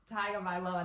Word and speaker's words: Tagovailoa: Miami Dolphins, starting their first round pick, Tua Tagovailoa. I think that's how you say it. Close. I don't know. Tagovailoa.